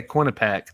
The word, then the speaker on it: Quinnipiac: Yeah, Quinnipiac.